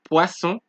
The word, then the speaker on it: poisson: You remember when we had the two S's, it was poisson. Now there's only one S in this word, right? It is poison. Cerise.